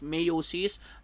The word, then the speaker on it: meiosis: called meiosis so meiosis some others pronounce mayo she's either way pero hindi siya mitosis or meiosis i'll be called consistently a pronouncing that one as meiosis alright so mei OS